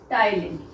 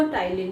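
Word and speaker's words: ptyalin: ही दूसरा नाम है टाइलिन। ओके, दोनों एक ही है, इसमें टी साइलेंट है, तो आप सिलेवरी अमाइलेज भी बोल सकते हो, टाइलिन भी बोल सकते हो।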